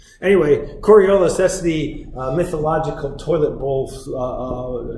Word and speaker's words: Coriolis: Rhymes with aurora borealis. Is that right? No, it doesn't really rhyme. Kind of. Anyway, Coriolis, that's the mythological toilet